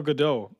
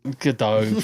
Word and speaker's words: Gadot: But It's Gal I Gadot, don't... by the way. For a Jew. Godot, fucking Constantly Godot. getting- Go She's Bart. not French. She's Israeli. She's Israeli. Yeah.